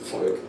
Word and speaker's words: Volk: Vater, Volk, vielleicht. Vater, Volk, vielleicht. Let's say each one slowly, then at normal speed. Very nice. Vater, Volk, vielleicht. It's not like a V, it's like an F.